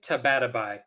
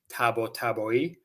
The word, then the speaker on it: Tabatabai: the way uh no no no I say tabatabai so I'm half Iranian so the surname the last name is from Iran um apparently that's not how you say it apparently you're supposed to pronounce it Tabo taboi I can't do that sounding like this I